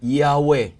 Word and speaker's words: Yahweh: Y, H, W, H. Awan iti vowel na ta nasantuan launay anagan dayjay. Tapno maipronounce da, inikanda dagiti nagbabaetan, dagito nga letra nga upat, tapno nagbalinin nga Yahweh.